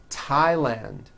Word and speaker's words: Thailand: Although these next words and names are spelled with a TH, they are pronounced as if they were spelled with a normal T, like that.